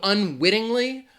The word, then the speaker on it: unwittingly: unwittingly is the word the stress is going to be on that wit unwittingly unwittingly the other thing is